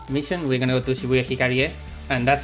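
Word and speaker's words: Shibuya Hikarie: to finish today's mission we're gonna go to shibuya hikaria and that's how it's pronounced look at the logo and we're gonna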